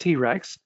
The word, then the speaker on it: T-RX: It's pronounced TRex, but it's T-RX avionics radio and test pulser.